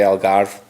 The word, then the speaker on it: Algarve: If you're ever hungry and you want to get some good Portuguese food, Cafe Algarve is, I don't pronounce it that way, Mike does. It's Cafe Algarve, being Portuguese, but I just say it how my boss tells me to say it.